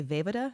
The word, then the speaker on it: Vejvoda: So we've got Jeff Snyder and Draco, Alex Damon, Stacey Howard, JTE, Jim, I want to say Vejvoda. Is that how you say it? Yeah, Vejvoda. Vejvoda, yes.